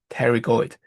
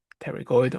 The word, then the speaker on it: pterygoid: spell it out, but you don't need to pronounce it. It's called pterygoid. We have the middle, medial, pterygoid, or… and the lateral pterygoid.